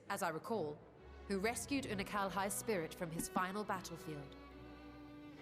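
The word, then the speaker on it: Unukalhai: You remember Unakalhai?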